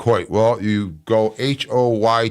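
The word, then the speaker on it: Hoyt: Well, you go H O Y T. That's phonetically. It is pronounced Hoy.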